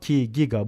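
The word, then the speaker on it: giga: olduğunu söyleyebiliriz 2ga Pascal kiga burada Onu üzeri dokuzdur Bu arada ben bunu gibi olarak telaffuz ettim ama bazıları ciga diyor Çok da fark etmez Evet bu da büyük bir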